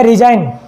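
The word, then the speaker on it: resign: इसमें जी साइलेंट हो रहा है क्योंकि एन से पहले अगर जी आ जाता है तो वहाँ पर जी साइलेंट हो जाता है, ठीक है।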